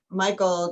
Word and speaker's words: Michael: It's pronounced Michael, right? It is pronounced Michael.